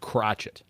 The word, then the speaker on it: Crochet: I've heard it pronounced Crotchet, just like Michael Peanuts. Crotchet. That's like Miami Vice.